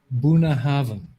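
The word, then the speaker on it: Bunnahabhain: is correcting my pronunciation it's pronounced buna haven thank you task i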